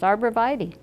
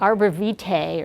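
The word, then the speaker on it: arborvitae: pronounce it um well that is how it's pronounced arbra VY you said you didn't like I just don't like the way that sounds it seems it seems to me like it should be like Arbor V he or something like that but it's not it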